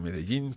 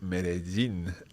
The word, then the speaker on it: Medellín: When I hear Spanish speakers pronouncing Medellín, Colombia, it always sounds like Medellín. I would have thought it would be Medellín. Is that just a local way of pronouncing it? Marina, I'm going to ask you to answer that one. Yeah, I would say that's a local way. Probably a Spaniard would say Medellín. Medellín, yeah. There are obviously different pronunciations in different parts of the Spanish-speaking world.